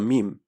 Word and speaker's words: meme: For those of us who don't have our heads in the sand, that thing is called a meme. M-E-M-E, pronounced like the genetic gene.